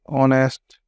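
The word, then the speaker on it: honest: अब हमें यहाँ देखना है, इसको पढ़ते हैं ऑनेस्ट। ये यहाँ पे साइलेंट है, ध्यान रखना, एच इज साइलेंट वर्ड, इसलिए ऑनेस्ट।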